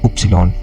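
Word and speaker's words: Ypsilon: X and then Y is Upsilon we say Upsilon in German and then Z is z so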